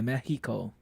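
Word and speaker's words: México: X in Mexico is more of how English people pronounce H.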